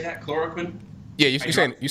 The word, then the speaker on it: chloroquine: Chloroquine?